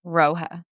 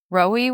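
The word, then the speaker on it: Rohe: The name is pronounced to rhyme with way, and once you encounter the fabric quality in person, the name becomes impossible to forget. Rohi works almost exclusively with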